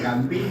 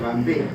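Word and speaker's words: Gambee: El punto de Gambí o Gambé, como quieran pronunciar ustedes, sirve para dos cosas.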